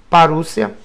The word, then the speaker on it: parousia: A palavra parousia, que se pronuncia parúcia, significa vinda, chegada, presença, volta, visita real, advento, chegada de um rei.